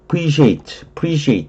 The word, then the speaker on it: appreciate: 리의 강세가 있죠. appreciate 이렇게 발음하면 돼요.